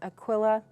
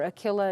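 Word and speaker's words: Aquila: people he met there that's Aquilla or akilla if you want the Latin pronunciation eagle and Priscilla venerated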